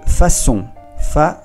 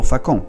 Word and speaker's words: façon: Il travaille de façon, aquí la C con la C di, el ganchito aquí debajo de la C te indica que se pronuncia como una S. Façon, non facon, façon.